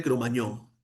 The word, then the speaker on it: Cromagnon: tenemos al hombre de Cromañón el hombre de Cromañón, se escribe Cromagnon que es nuestro antepasado Ese sí es nuestro eslabón, pero no perdido.